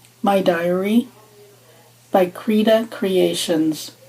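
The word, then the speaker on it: Krida: accessibly the app is called my diary by creda creations creda is spelled k-r-i-d-a kilo romeo india delta alpha there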